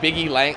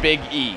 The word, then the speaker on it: Big E: got me Quinn when people say his name it's like biggy L like biggie like biggie like Biggy Smalls kind of but it's big e space e Big E Langston stop it I